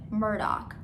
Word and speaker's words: Murdaugh: also they wanted to spell their last name murdoch but pronounce it murdock so go figure anyway